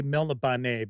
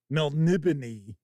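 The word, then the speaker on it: Melniboné: of well I know I used to always say melan but it's Mel nibon was a correct pronunciation and I kind of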